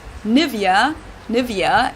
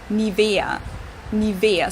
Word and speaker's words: Nivea: native speakers usually say Nivea Nivea in German we say nia nia so the emphasis is on the E oh my goodness you